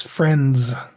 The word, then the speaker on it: friends: that strong H sound NDS which is found in the word friends this is tricky because there are several sounds together that blend together it's friends you'll want to make sure that you put that D sound there Friends next is the